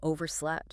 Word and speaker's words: overslept: You know, reluctant, maybe still half asleep, or worse, you missed the alarm entirely and you overslept. Right. Note that T sound at the end. Overslept.